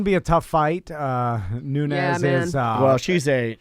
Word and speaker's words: Nunes: It could be It's Nunes. Yeah. Nunes. Yeah. I want to say Nunez.